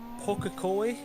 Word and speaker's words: Pukekohe: Pukekohe. Hey, hey, hey. That's actually pretty good pronunciation of that.